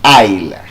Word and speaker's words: aisle: Because both words have the same pronunciation actually. And what they have spelled is aisle.